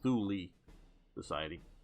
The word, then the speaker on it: Thule Society: Thule sounds better too, at least English speaking ears, sort of like Zool, sort of like impressive, but I gather it really is pronounced Thule Society.